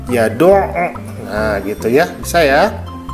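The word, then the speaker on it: يَدُعُّ: Contoh yang kedua, yad'u. Nah, kan di situ ya ada penekanan ya, yad'u. Nah, jadi dibacanya yad'u.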